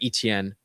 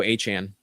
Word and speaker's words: Etienne: And then we also have Trevor Etienne who will uh steal the job if he needs to.